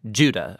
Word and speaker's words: Judah: the letter of Jude or more accurately Judah according to the pronunciation of his name both in Greek and in Hebrew Judah was one of